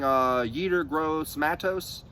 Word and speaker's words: Yetur Gross-Matos: Moving on, though, I'm going to, you know, in the second round, we ended up getting Yetur Gross-Matos.